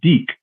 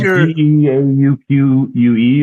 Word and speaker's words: deke: Oh yeah, you just say D and you put a Q at the end of it, and it's Deke.